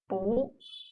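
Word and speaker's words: 不: still sounds like Boo but when boo is followed by a syllable in the fourth tone like this fourth tone then the sound of it changes into the second tone which is Buu we just learned sure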